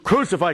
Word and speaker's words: crucify: that one word and if you're saying crucify crucify crucify crucify crew it becomes very pedantic but if you say the first crew is an introductory syllable and now the word is SIF I true cific true SIF I crucify crucify crucification then the piece just sails out the door don't take this stuff